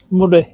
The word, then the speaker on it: Moray: Murray. It's pronounced Murray.